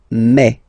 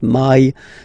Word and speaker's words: mai: In French, remember when you combine this A and then E vowels, you get the sound E. So really open E, okay, and then you pronounce it me. Okay, so don't pronounce E, don't try to pronounce it. No, it's me. So it's not my, it's me.